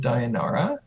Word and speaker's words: Dayanara: sort of bow of Dayanara so am i pronouncing that right yep there you go it's really just fiddling with the name Diana yeah that's what a